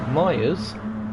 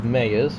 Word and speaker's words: Myers: is a houdini uh myers as opposed to meyers which is how it's spelt he'll be angry at